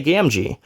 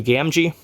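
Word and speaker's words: Gamgee: Rings fan I didn't say gamji well this was a pretty early concept art and his name was actually revised before the official release of Fellowship of the Rings so that is why it is spelled Gammy that was the original name that they were going to go by and they changed it to gamji so a little history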